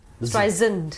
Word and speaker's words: Streisand: She says the second S in Streisand and not soft Z. Streisand.